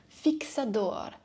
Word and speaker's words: fixador: an external fixator, or how they say it here in Portugal, I kind of like that name, fixador.